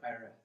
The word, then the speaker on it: Ioreth: She says, "My name is Ireth. Ireth? And How do you spell that, Ireth?